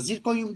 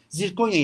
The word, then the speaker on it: zirkonya: Z Konya girdi hayatımıza Zirkonyum değildir Bu arada Konyada bunu da güzel değil mi gibi terminoloji konuşmak dahası zirkonya yazılır zirkonya okunur ya da Zirkonyum dioksit